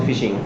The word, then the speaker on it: phishing: the normal word called phishing, FISHING, and this F is replaced in case of the cyberspace by using the word called PH. So pronunciation remains the same.